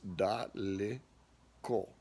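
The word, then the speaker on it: далеко: pi de siet and the word dali ko the e in the middle there or the yeah is da le ko da li ko now another example of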